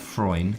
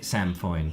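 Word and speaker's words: sainfoin: So there's Samfroin. Not Freund. Foin? Samfoin. I don't know how it's pronounced properly. Samfoin. Linda Kane is saying, is it Samfoin? Yep.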